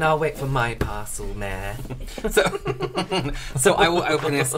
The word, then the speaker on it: Maire: And this is from Maire, rhymes with scare.